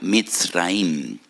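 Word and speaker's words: מצרים: porque que la palabra Egipto en hebreo se pronuncia mit raim y en hebreo hay dos MS dos letras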